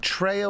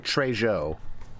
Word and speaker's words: Trejo: Is it Treyo or Trejo? It'd be Treyjo. Treyo or Treyjo because uh in Spanish J's are pronounced as H's.